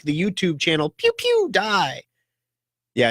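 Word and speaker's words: PewDiePie: like the YouTube channel, pew, pew, die. Yeah, you have to say it like that too. It's pew, pew, like a laser beam, pew, pew, and then die.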